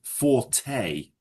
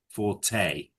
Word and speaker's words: forte: But it's pronounced forte. Forte. Yeah. It's a French word.